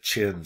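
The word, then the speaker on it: Qin: which is called the chin state yes i know it's written with a q and in chinese you will pronounce it ch so that is the chin state okay the chin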